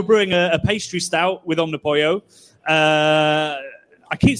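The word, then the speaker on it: Omnipollo: Did you say Omnipoyo? I've already forgotten, Bradley. Omnipoyo. Yeah, that was 3. Oh. An Omnipolo for everybody else, I guess. Okay. Does anybody have a different pronunciation thinking about it? No, that would be ridiculous.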